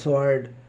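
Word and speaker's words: sword: से पहले एस के बाद डब्लू साइलेंट होता है जैसे डब्लू आर ओ एन जी रंग डब्लू आर आई टी आई एन G writing S डब्लू ओ आर डी सवार्ड तो इस प्रकार डब्लू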